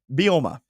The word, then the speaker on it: Bielema: Bielema. There we go. There you go. I was adding an extra syllable in there.